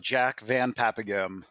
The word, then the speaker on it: Jack Van Paepeghem: Jack Van Paepeghem. Jack Van Yeah. Paepeghem. I Pronounced hope I many got ways.